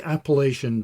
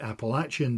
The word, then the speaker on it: Appalachian: iSpring unveiled its outdoor portable filter straw, and the Appalachian Trail, depending on how you say it and where you're from, it could be the Appalachian Trail, saw almost 17 million visits in 2025.